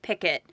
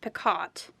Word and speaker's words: picot: so many ways so google says it's pronounced picket i was always told it was pronounced picat which sounds silly now